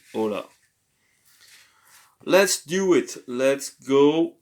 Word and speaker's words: hola: a raspy raspyha h but the h is silent you don't say hola but you say hola let's do it let's